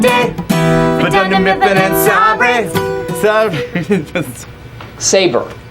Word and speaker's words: Sabre: electronics company in Florida called Sabre, or as everyone in the office mispronounces it, Sarbre, bought out the company.